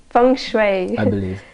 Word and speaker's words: feng shui: around the mansion and she said she said Feng Shui experts feng shui expert how do you pronounce our friendship song Shui from Fung Shui okay so she's a Fung Shui expert so